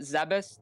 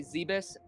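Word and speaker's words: Zebes: you pronounce it Adam everybody has their own way I don't think there's an official right or wrong good question I traditionally pronounce it zabis the way you just did but I know certain people say zaebis and some people say Zeb ease I've never heard any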